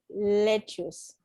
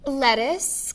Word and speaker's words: lettuce: what's in the salad listen to the pronunciation it's not lectures carrots peppers onions what's in the salad lettuce carrots peppers onions eggs